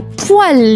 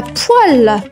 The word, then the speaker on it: poêle: La poêle les amis. La poêle. La poêle. Et la poêle s'écrit les copains P O E.